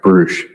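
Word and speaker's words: Brusch: Can you please state your name and spell it for the court reporter? John Patrick Bruch.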